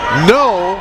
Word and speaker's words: Noe: no with the rebound no he spells his name noe but it's pronounced no 15-foot jumper good by